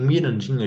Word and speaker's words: Mirandinha: Em Mirandinha, a gente vai mudar mais coisas. A sílaba mi tá certa. A sílaba ran não pode ter esse A aqui, porque esse A, ele é um A aberto, é o A que